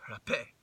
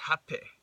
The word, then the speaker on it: Rapé: an apostrophe, making it rapé. Or I believe it's more pronounced hape, with like an H sound.